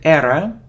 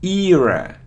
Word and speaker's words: era: it's a opinion opinion it isn't error or error now its era era era so see eeeh eeeyah era look at this world